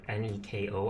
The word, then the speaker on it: Neko: When I saw the name, the word N-E-K-O, I thought it was Nico my whole childhood growing up. It wasn't until I was like an adult I found out it was Neko, so I do try to